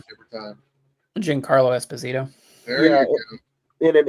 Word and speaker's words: Giancarlo Esposito: I mispronounce it every time. Giancarlo Esposito.